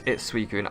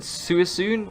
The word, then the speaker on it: Suicune: For me, Suicune, and if you pronounce it differently, I did too. Apparently it's Suicune. I said Suicune, I think.